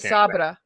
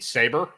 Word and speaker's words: Sabra: Oh, you mean Saber? Oh, is that how you say it? Because it's Sabra. Oh, A, not E? Yeah, it's A. It's Sabra. Then yeah, it would be Sabra. Yeah, Saber is E.